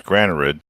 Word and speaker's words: Granarud: If you say all the letters, it's Granarud.